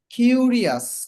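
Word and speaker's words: curious: আবার এরকম আরো কিছু শব্দ আছে, যেমন কোনো ইংরেজি শব্দের শেষে যদি আই ও ইউ এস থাকে তাহলে উচ্চারণটা হয় আস, আস, উচ্চারণটা আস হয়। যেমন কিউরিয়াস, কিউরিয়াস কৌতূহলী, কিউরিয়াস, এই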